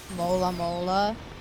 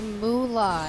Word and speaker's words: moolah: Mola mola? No, that's money. And it's pronounced moolah, Ellen. God.